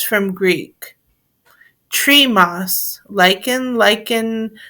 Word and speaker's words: lichen: lick in American English lichen is pronounced as the same verb lichen in British English both pronunciations and one rhyming with kitchen are used anatomy and morphology growth